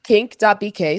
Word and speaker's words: QNCC: My shout out this week goes to the Queer Nightlife Community Center, which its acronym spells QNCC or pronounced Kink.